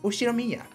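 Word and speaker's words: Ushiromiya: The first part is my family name, Ushinomiya. That's a fairly plausible Japanese pronunciation so far.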